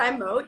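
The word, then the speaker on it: Zymōt: It's actually pronounced Zymot. You're right. Zymot. It has the umlauts over the O. So it is actually Zymot, but most people I know say Zymot.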